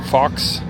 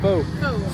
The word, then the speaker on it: faux: Looks like they got a lot of cocktails, wine, half wine bottles, mocktails, Fox, or How do you say that? Faux.